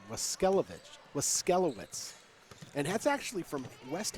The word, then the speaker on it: Waskelowitz: We just got the pronunciation, Waskelowitz.